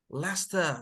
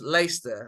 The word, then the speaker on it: Leicester: it more like it some people will pronounce lace there which fine I mean it's fine your answers are also correct but most like they'll say Lester Leicester that's it lay